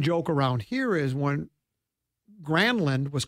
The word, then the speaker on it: Granlund: He went and asked him what it was, and he goes, well, no, it's actually pronounced Granlund.